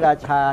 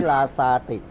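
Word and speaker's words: ราซาติ: อุง เอ้ นะ ครับ แล้ว ลาซา ติ เนี่ย ไม่ ใช่ ว่า พูด ไม่ ชัด นะ อย่า ไป ใช้ ราชา นะ ต้อง ใช้ ราซา ติ อ่า เป็น าษา เ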